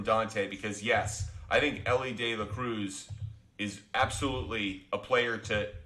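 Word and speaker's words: Elly De La Cruz: favorite players every day Eli De La Cruz Ellie De La Cruz Ellie De La Cruz that's how I should pronounce it and you're taking Dela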